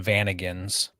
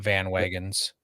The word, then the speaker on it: Vanagon: I usually pronounce them Vanagons. Vanagons? Yeah, Okay. not Van Wagons.